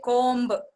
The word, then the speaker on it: comb: And for example, ba sound, it's actually silent in the word comb. Comb, we don't say comb, we say comb.